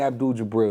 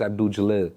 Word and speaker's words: Abdul Jalil: Yeah, his name Abdul Jabril, it's Abdul Jalil.